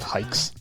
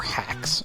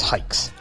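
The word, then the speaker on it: Haix: Hey listeners, have you heard of hikes? Not hikes or hacks or hyaks. It's hikes.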